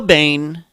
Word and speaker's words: Boehm: Little Joe Boehm, and yes, that's how you pronounce it, B-A-N-E, like Batman's enemy.